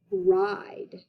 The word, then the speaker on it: ride: And yes, that letter I is saying its name loud and proud. all due to super silent E giving away his power so that that vowel can say its name and be a long vowel sound.